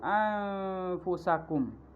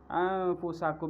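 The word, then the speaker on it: أنفسكم: yang kedua Contohnya yaitu anfusakum anfusakum seharusnya pada kata anfusakum ini dibacanya ikhfa tetapi seseorang membacanya dengan izhar nah hal ini tidak merubah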